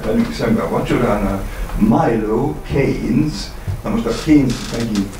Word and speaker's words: Keynes: És kinél ülünk, ki ül mellettünk, illetve velünk szemben a vacsoránál, Milo Keynes, na most a Keynes megint azoknak, akik nem tudnak, nem ismerik a helyi kiejtést, meg kell magyarul, ez nem Keynes, ez a Keynesnek írt közgazdász, ez a Keynes.